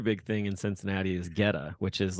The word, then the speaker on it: Goetta: Geta, and it's pronounced Geta.